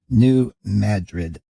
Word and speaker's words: New Madrid: let's start with the New Madrid earthquakes and I really don't like the pronunciation of that since I always think of that spelling as in Madrid Spain but this is a